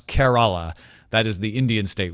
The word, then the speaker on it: Kerala: helped me properly pronounce Kerala. That is the Indian state we were talking about yesterday. He says it's Kerala, the same as care as in caring for someone.